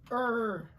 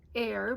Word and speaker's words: err: again decisive divisive ER my mother was an English teacher and she always told me it really aggravated her that everybody said air because the word is er as it happened we